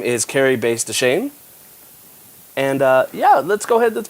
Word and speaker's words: Bass-Deschenes: It's and let me just correct your pronunciation real quick. Yes. Don't worry, it's happened to me all my life. But it's Bass-Deschenes.